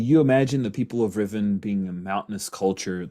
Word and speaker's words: Riven: Well, most people on Riven pronounce it Riven. The royal family pronounce it Rivan, of course.